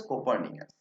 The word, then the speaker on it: Copernicus: তাহলে গ্যালিলিও বোঝাচ্ছেন যে দেখো, আমাদের নিকোলাস কোপার্নিকাস কাকে বোঝাচ্ছেন? অ্যান্দ্রিয়া কোপার্নিকাসকে কি বলতেন? আমাদের গ্যালিলিও কোপার্নিকাসকে উচ্চারণ করতেন কোপারনিকাস। ঠিক আছে? যেহেতু ইটালিয়ান মানুষ, ইটালিয়ানদের প্রোনাউন্সিয়েশন একটু আলাদা হয়, সেই কারণে তিনি কি বলতেন? কোপারনিকাস বলতেন।